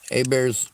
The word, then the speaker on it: Hebert: agree with a bear a bear's real name is Joshua Hebert well it's pronounced a bear but it's spelled Hebert and I used to